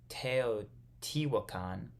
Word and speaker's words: Teotihuacan: then not teach land no I'm saying this wrong um I I assumed that that's what it was because it's a t and a long word but it's not this so I've been saying it wrong this whole paragraph teoti wukan I'm